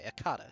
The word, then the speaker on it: Akata: I'm saying it right. That's actually really good news. Okay, Akata is correct.